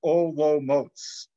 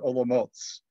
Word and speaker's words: Olomouc: that live in olomoucs that it actually is pronounced o lo motes like ologboats but olomouts is the way that you pronounce it in